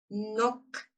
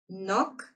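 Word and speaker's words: knock: Тобто получається, що перша літера Кей взагалі не читається в цьому буквосполученні. А тепер потренуємось читати н, наприклад, в'язати need знати. No, no. Стукати нок коліно.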